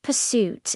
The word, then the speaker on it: pursuit: The stress is on the second syllable.